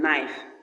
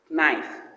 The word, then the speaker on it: knife: The next page where we have as in knife. The word is knife. The K sound is silent.